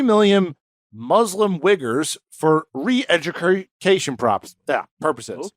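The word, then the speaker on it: Uyghurs: purposes okay what the wiggers what'd you say wiggers what those are the Muslims the Chinese Muslims that's what they're called oh that was a name for uh no u-y-g-h-u-r-s it's pronounced wigger that's not is really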